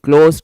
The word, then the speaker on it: cloze: यहाँ पे इसको क्या बोलते हैं हम लोग, CLOZE है इसकी स्पेलिंग, क्लोज टेस्ट, ठीक है।